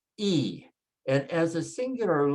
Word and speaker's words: y: And then the letter Y is pronounced E.